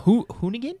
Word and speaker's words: Hoonigan: Forza announced some Hoonigan? Is that how you pronounce it?